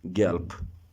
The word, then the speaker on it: gelb: This is not gelb, so be careful with the voice of B. You have to pronounce it like P, gelb.